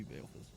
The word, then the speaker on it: Baleus: Yeah, it should be Baleus, but you know, I always shorten it to Bale.